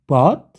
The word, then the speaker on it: bought: Bacanya kalau by, bought, oke, UG-nya nggak usah dibaca.